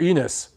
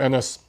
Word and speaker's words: Ennis: Because if it's Jaron Enos, now I know why he got into boxing. Because he probably got picked on a lot in school growing up. If your last name rhymes with penis, you better know how to fight. But Jaron Ennis, I'm going to call him Ennis.